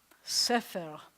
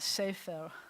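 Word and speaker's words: ספר: it's a segolate, which means that the accent's going to be on the second one. And the rounded resh, that word is sefer. So I told you, when I was young, I would have pronounced that sefer.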